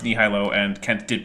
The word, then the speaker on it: nihilo: It is not pronounced nihilo, and Kent did pronounce it that way.